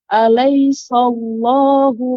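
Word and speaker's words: أليس الله: Ya, kemudian untuk catatan, alaisallah, jangan sampai sin menjadi tebal. Alaisallah, tidak. Akan tapi alaisallah, sa diucapkan secara sempurna. Alaisallah, baru masuk Allahnya tebal. Jangan sampai alaisal. Nah, itu jadi so. Jadi alaisallah. Demikian.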